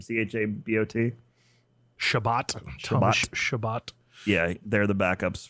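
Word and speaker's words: Chabot: dowdy how do you say his name c-h-a-b-o-t shabbat shabbat yeah they're the backups for i guess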